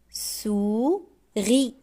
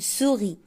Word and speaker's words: souris: lit un poisson un poisson un anas ananas une souris on prononce pas le s une souris souris je déchiffre La lettre S.